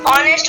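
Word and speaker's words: honest: क्या है हा है जब भी ओ से पहले हा आता है तो इसको हम क्या करें हा को प्रनंसीएशन नहीं करते हैं इसको नहीं पढ़ने हैं और ये साइलेंट होता है इसीलिए अब क्या होने की अवर देते हैं ठीक है ऑनेस्ट हो गए ऑनेस्ट नहीं होता है ओ से पहले जब भी हा आएगा वही और ये उससे पहले हम हा को क्या करेंगे साइलेंट करेंगे तो ये आपको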